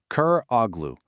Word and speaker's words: Köroğlu: He casts off his old name and he takes on a new one, a name that will echo through history, Koroglu. It's pronounced Koroglu, and it literally means son of the blind man.